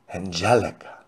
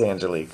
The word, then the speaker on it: Angelique: Okay, so is it Angelique? Is that how that's how you pronounce it, correct? Angelique. Angelica. No, it's Angelique, right? Christian, love to see your smile. Well, thank you. It is Angelique.